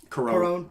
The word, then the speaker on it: Cuarón: Cuarón. Yeah, Alfonso Cuarón.